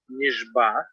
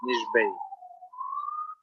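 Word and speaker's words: נשבע: ayin in the word nishba, right? Nishba, so that it should not sound as the hey. Is nishbei. Okay, so you should pronounce nishba. So not nishbei.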